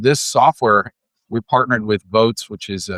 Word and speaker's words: Voatz: So just like if you were voting in a real election, and this software, we partnered with Votes, which is spelled VOATZ.